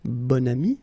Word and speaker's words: bon ami: Okay, so you can see that here you've got this adjective, bon, okay, and then you pronounce it bon ami when you make this link.